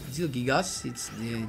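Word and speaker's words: Zielgigas: Jilgigas, this is the way you pronounce it.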